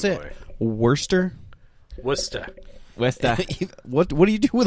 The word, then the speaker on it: Worcester: He How do you is a pronounce Boston it? boy. Worcester. Worcester. Westa.